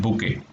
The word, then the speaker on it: bouquet: T is silent, bouquet.